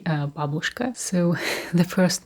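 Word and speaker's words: Бабушка: Russian Gran Babushka and Babushka is how to pronounce it in correct way because I uh I he I heard quite often uh Babushka that's not correct you should say Babushka so the first name which is very well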